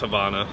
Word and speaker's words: Havana: But it's pronounced Havana, so.